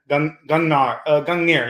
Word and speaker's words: Gungnir: So I wonder if you could tell us a bit about your new company, Gungnir. I'm pronouncing that right? Yeah, Gungnir.